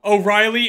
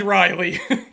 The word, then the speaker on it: O'Reilly: a second period though O'Reilly and Riley they're both spelled different ways pronounced the same halfway through the game